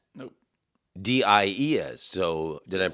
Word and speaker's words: Diez: Not Diaz, Nope. Diez. So, did I Yes.